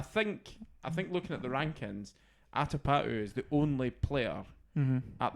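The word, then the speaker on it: Atapattu: first names are not notoriously the most easily pronounced for us Brits. It's Atapatu.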